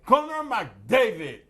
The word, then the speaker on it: Connor McDavid: You Well- mispronounced his name. Well, okay, Connor McDavid.